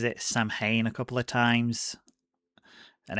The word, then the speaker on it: Samhain: And on the chalkboard, you see the word Samhain. Now, after Loomis pronounces it Samhain a couple of times and explains what it